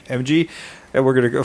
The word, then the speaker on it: Emge: David, how do you pronounce his last name? Emge.